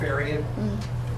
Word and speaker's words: Farion: Farion, right? Yeah, that's correct, Farion.